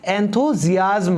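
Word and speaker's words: enthusiasm: इसको हम प्रोनाउंस करेंगे एंथुजियाज्म, ओके।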